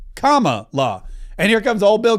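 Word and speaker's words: Kamala: It's comma like the pron, you know, the uh apostrophe and law like law, comma, law.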